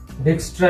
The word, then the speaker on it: Dijkstra: Dijkstra algorithm. J will be silent here.